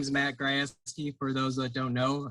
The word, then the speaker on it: Grajewski: tonight yeah sure uh my name is matt grasski for those that don't know i'm sure most don't know how to pronounce it kind of throws everyone for a